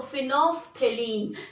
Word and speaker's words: phenolphthalein: L is silent, student. So L silent, so phenolphthalein, that is the, we'll spell like this.